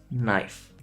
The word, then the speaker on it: knife: When K comes before the letter N, you don't say it. So it's not knie, it's knee. Not knife, it's knife. Not knight, it's night. Every single time you see